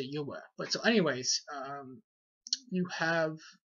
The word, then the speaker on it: Yahweh: I don't pronounce it as Yahuwah. I say Yahweh. Very similar to Yahweh, or Yahweh. But I say Yahweh.